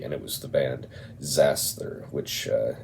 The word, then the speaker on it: Xasthur: in Nashville Tennessee and it was the band zaster which uh x a s t Hur is how that's spelled and if you're not familiar with them